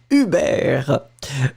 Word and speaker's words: Hubert: So she was pronouncing it the French way. Hubert.